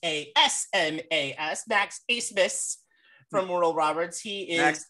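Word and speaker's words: Abmas: talk about max a-b-m-a-s on your paper but pronounce a-s-m-a-s max acebes from moral roberts he is ace didn't miss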